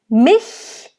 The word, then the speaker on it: mich: Mich. And again, it's a short I, which makes it an open I, not I, mich, it's mich. So nice, open I.